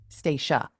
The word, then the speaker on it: Stacia: Stacia, you pronounce it Stacy or Stacia? Stacia. Stacia. Wow, I was way off.